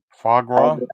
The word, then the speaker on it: foie gras: I don't know how to say foie gras.